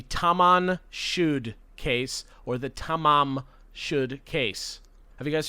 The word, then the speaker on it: Tamam: up in this case it is spelled correctly tamam ta ma m okay okay but for some reason it is widely known as taman with an n because like at some